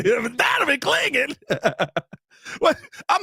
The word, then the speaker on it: Clingan: Donovan Clingan. That was a miss, right? Hey, that's exactly how you got to say his name. Donovan Clingan.